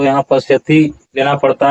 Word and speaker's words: पश्यति: और इसका उच्चारण आप कीजिए शब्दों का सही उच्चारण कीजिए यहां पर तत्रा पश्यति अस्थतान पार्थ पितृथ पितामह ऐसा उच्चारण होगा ऐसा उच्चारण नहीं होगा लोग यहां पर उच्चारण क्या करते हैं तत पसति और अस्थतान इस तरह से उच्चारण नहीं होता है।